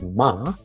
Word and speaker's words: ㅁ: It should be nasal and bilabial and voiced. What does that mean? Well, when you pronounce ma, block your nose and pronounce ma. Ma, ma. You will hear a sound weird because the air goes through your nose and touch your vocal cords. Ma, ma. And you will feel that it vibrates. It's just like the English M in mom.